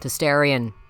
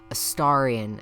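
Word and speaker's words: Astarion: also romances Gortach and ascendant Aarion or sorry Aarian as I know some people will for some reason only fixate on the fact that I said it wrong the first time. So there I fixed it for you.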